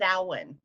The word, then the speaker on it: Samhain: Patrick or not yeah it was salan Samhain but it's actually pronounced salan well yeah that guy that ran the devil